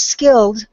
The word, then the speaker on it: skilled: Even though the vowel is printed there, we don't pronounce it typically when we have a past tense word. So it's skilled, and I know that